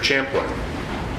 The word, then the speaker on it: Champlin: Champlin.